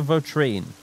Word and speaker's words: Vitrine: know Edgar Edgar Mauser Edgar vitrine I think rhymes with latrine some of the conversation